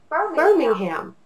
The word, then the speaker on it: Birmingham: And so this word would be burr, ming, ham. 3 syllables pushed together that would say Birmingham.